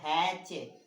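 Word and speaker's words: hatch: इसी प्रकार हैच, है ना, मैच, नोच, क्लच, इच, स्केच, स्विच। अब यहाँ पे देख लीजिए, इतने सारे वर्ड लिखे हैं, सारे में जो टी है वो क्या है? साइलेंट है।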